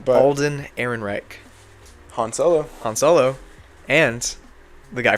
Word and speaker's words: Ehrenreich: But Alden Ehrenreich.